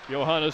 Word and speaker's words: Johanna: Johanna spells her name with a J, but you pronounce it softly.